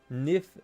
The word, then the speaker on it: knife: People say uh nif, but it's spelled knife.